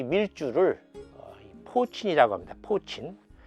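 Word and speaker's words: poitín: 포친.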